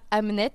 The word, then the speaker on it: Hamnet: le tout le sel du roman est là Amnet c'est bien le prénom du fils de William Shakespeare. Donc ça s'écrit H A M N E T.